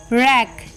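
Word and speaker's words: wreck: with silent letter W the rule is ऑफ in silent before are और एट the beginning of a word मतलब या तो आर के पहले silent होगा डब्लू या फिर वर्ड के स्टार्टिंग में जैसे डब्लू आर आई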